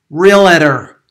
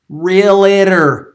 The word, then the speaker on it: realtor: real estate agent, and he said, realtor, realtor. Okay, if you are a realtor, okay, there's two syllables. Number one, you don't say docator, so why would you say realtor? Let's stay professional.